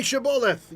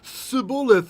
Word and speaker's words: Shibboleth: As you can see, right, like, say Shibboleth. You know, the guys are coming across from one tribe across the river, say Shibboleth, and those guys say Sibboleth, off with his head, right?